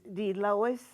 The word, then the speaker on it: Delois: Uh, if you would give us your name and spell it for us. Okay. My name is D. Lois Daniels.